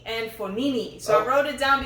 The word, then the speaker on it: Fognini: Yes, and Fognini. And not Fognini. And he said the G is silent.